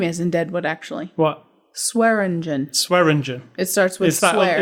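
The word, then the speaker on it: Swearengen: Swearingen. It starts with swear. It's the Chinese guy always said it wrong. Right, so. But I'm saying it starts with swear. SWEAR.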